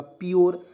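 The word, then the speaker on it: pure: प लिख दिए और यू आर ई आया, इसका उच्चारण योर के रूप में कर देंगे तो क्या हो जाएगा, प्योर, आधा प लिख देंगे, प्योर हो जाएगा दोस्तों।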